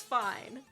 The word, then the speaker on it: Fi: I know it's pronounced Fi, but that's ugly and I don't care.